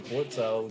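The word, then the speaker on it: Blitzø: My name is Blitzo. You don't pronounce the L.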